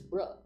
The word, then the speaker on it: brah: You say it wrong. It's not bro. It's bruh. Bruh.